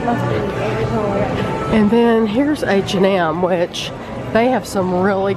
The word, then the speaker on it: H&M: H&M.